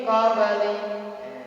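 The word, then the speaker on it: قَبْلِ: Min qabli dan mati berjumpa dengan kau dibaca ifa seperti kumkum. Qabl dibaca qalqalah sugro ya.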